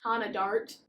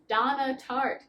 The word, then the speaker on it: Donna Tartt: I was going to say Tana Dart. That's not how we say her name. Donna Tartt managed to make New York City just so homey feeling for descriptions.